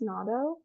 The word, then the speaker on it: natto: And then I have not made, is it pronounced natto?